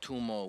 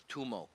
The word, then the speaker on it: TUMO: It's this institute called TUMO, which is like a nonprofit I was organization. wondering, how do you pronounce it? TUMO. Tumo. Okay.